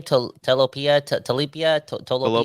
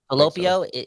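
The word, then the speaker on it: Tolopilo: Talopio, yeah. Talopio.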